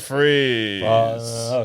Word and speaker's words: Fries: he Victor freeze Mr Freeze probably I think his name is Mr okay so it's Dr Victor Fri that's how it's spell but fries is pres pronounced freeze there you go okay